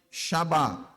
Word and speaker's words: Shabbat: Anota aí, Shabbat. Como é que se escreve? S-H-A-B-B-A-T.